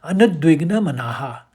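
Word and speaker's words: अनुद्विग्नमनाः: होने पर अनद्विग्न मना क्योंकि संधि विच्छेद में औ का उच्चारण नहीं आएगा। आपने नद्विग्नास पढ़ा था तो इसको समझ लीजिए। यह शब्द होगा अनुद्विग्न मनाह या उद्वेग से रहित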